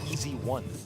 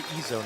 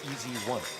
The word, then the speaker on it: EZONE: They said it actually is the easy one. That's how you're supposed to pronounce it. It's not the Ezone, it's easy one.